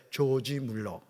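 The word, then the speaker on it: George Müller: 그랬어 조지 물러 예 발음 잘해야 돼 조지 물러 한번 해봐 조지 물러 근데이 목사님이 성경을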